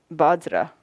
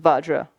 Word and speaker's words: vajra: could do it is we don't have a v sound in the tibetan alphabet so it's become badra when it's in sanskrit vajra um this is a